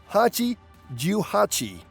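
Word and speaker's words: 八十八: Mother is Haha in Japanese, and 88 is pronounced Hachi Juhachi.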